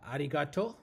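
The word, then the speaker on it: ありがとう: Yeah, arigato.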